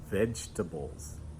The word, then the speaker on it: vegetables: today, and that is vegetables. Vegetables. 3 syllables.